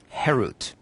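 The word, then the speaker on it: חֵרוּת: harut on the stones do not pronounce it carved which is harut but rather freedom herut to show that they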